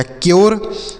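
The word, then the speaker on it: cure: सी से आधा का, यू के बाद आर ई है तो यो का उच्चारण आर ई से र, ये हो गया क्योर।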